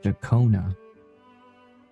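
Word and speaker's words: Ciaccona: My name is Jacona, a wandering bar. Jakona. Oh, that's her name is pronounced. Jacona.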